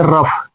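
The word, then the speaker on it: rough: अगर जो ओ के बाद यू आ गया तो ओ यहां पे साइलेंट हो जाता है। तो इसको पढ़ेंगे रफ।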